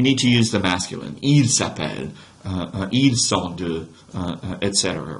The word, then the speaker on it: est: where she is from careful with your pronunciation of that verb right e right it's not EST that's Latin Okay so asking about